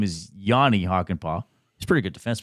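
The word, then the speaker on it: Jani Hakanpää: Off air, I made sure that Zach knew how to pronounce Hockenpaugh's last name, but I called him Yuri Hockenpauh. His name is Yanni Hockenpauh.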